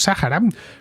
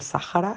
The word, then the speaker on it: Sáhara: esdrújula y además, extrañamente, la H, que en este contexto normalmente es muda, aquí por alguna razón se pronuncia como una J suave.